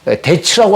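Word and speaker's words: debts: 영어 성경에서 데츠라고 하는 단어가 나옵니다. 여기서 빚은 묵음인데요.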